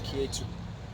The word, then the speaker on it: Ketu: neptune or the eastern numerology better known as k2 so that's spelled key k-e-t-u so that's a funny pronunciation but that's how